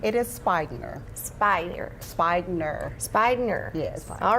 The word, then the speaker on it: Speigner: So, tell me how to pronounce your last name. It is Speigner.